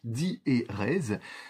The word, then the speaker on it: diérèse: Par exemple, si je veux mettre une diérèse dans le mot diérèse, au lieu de dire diérèse, dire di-et-rèse, sur mon texte, je vais mettre une barre après le di et avant le et.